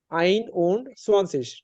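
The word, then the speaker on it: einundzwanzig: তার মানে এটার উচ্চারণ হবে কি? আইন উন্ড সোয়ানসিস।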